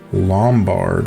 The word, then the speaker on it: Lombard: native languages of the Pope have been Italian, Lombard.